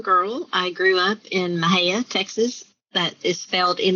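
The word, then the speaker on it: Mexia: i grew up in mahea texas that is failed in the xia so pronounced not anything like it is spelled was you know like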